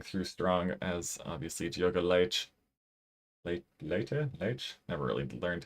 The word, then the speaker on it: Leite: Good time to see him coming through strong as obviously Diogo Leite. Leite? Never really learned how to pronounce the name. I think it's Leite in Portuguese.